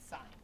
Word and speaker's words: sine: So I'll introduce the other two later, but right now we're going to do sign. It's not pronounced sin. It's pronounced sign.